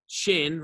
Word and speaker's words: Qin: So do not mispronounce Shang, Zhou, hard J, Zhou, Qin, like the thing that's on the bottom of your face, and Han.